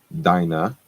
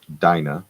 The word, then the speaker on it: Dinah: Dinah, that's how it's pronounced. Dinah, I was corrected by my wife.